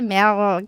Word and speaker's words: Mehl: para deixar a gente nervosa ou tem uma pronúncia?" Mas o certo é mel.